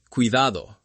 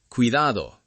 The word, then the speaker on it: cuidado: Finally, the soft D between vowels. Cuidado, ciudad, salida. It sounds like a very soft th in some accents. Cuidado, ciudad, salida.